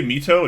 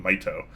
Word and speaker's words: Mito: apologize for that I I used to say Mito and be some couple people corrected me instead is supposed to be my toe and I start saying